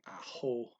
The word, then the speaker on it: ako: ko instead of akko he just shortened it and uh pronounces the k like an h and ako so he's well the